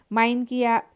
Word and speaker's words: মাইনকিয়া: 6 মাইনকিয়া বাইদ্যা আসল নাম মানিক। পূর্ব ময়মনসিংহের উচ্চারণে মাইনকিয়া হয়েছে এবং বেদে হয়েছে বাইদ্যা।